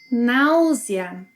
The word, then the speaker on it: náusea: In Portuguese, the AU sequence has 2 sounds. Now. Now. Similar to the sequence of sounds we have in cow. Ow. Cow. Now. Now. The letter S, when it's single between vowels, will have a Z sound.